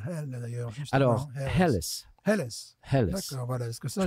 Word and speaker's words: Helles: Et comment elle prononce Hell, d'ailleurs? Alors, Helles.